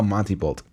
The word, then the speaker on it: Montembeault: I don't know how you pronounce it right. Montembeault. I am sorry. Oh, Monty Bolt.